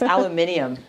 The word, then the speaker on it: aluminium: Why would you put an extra syllable for all my UK peeps? You all my UK peeps are going to laugh at this cuz they know how I feel about the extra syllable in aluminium.